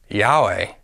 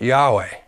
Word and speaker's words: Yahweh: to the syllable way when all vowels are pronounced together it sounds like Yahweh or Yahweh the Greek